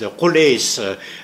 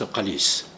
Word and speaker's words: Qalis: And when the word is vocalized, Qulis, the Arabic text, I suppose it's an innovation of Islamic period, because during the antiquity, it was certainly pronounced Qalis.